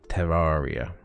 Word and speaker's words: Terraria: you know it's trying to say it properly terraria anyway um since the last episode i did